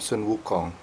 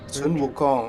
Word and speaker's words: Sun Wukong: No, reminds me of a cave from Sun Wukong.